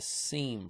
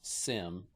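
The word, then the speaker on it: SIEM: if you're familiar with what is known as a seam product also known as Sim depending upon the way you like to pronounce it SE team or Sim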